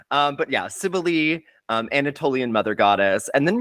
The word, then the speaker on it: Cybele: And speaking of things that are, questionably pronounced, I'm actually talking about Cybele today. Maybe sometimes Cybele. One person said Cybele. I don't like that one. No, I'm gonna nix that one. We're nixing right Cybele.